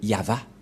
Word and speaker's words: Yahvah: nous voyons bien ici que il a bien prononcé le nom de de Dieu de Dieu yava où il est passé 21 33 que nous